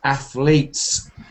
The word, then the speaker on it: athletes: The T is not sounded, it's kind of athletes. And it's just you sometimes don't say t or d. You say, you just make a kind of stop, like athletes.